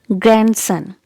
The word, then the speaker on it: grandson: also letter d is silent so it's grandson letter d is silent grandson grandson grandson do not say grandson okay it's grandson and it's very